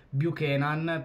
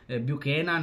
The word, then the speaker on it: Buchanan: fa Fabrizio romano che bu kenan perché se non sbaglio si pronuncia così essendo canadese il giocatore è praticamente